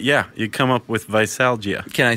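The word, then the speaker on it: veisalgia: cursed and dreaded hangover visalgia yeah is that the correct pronunciation that's how I took it that's the medical medical name for hangover is visalgia yeah and it comes from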